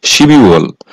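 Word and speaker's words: 십이월: অর্থাৎ শিবিউল ডিসেম্বর মাস আর এর সঠিক উচ্চারণ হবে শিবিউল শিবিউল ডিসেম্বর মাস আমি আপনাদের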